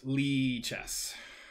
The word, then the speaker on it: Lichess: bother you oh yes it is pronounced lee chess and we have multiple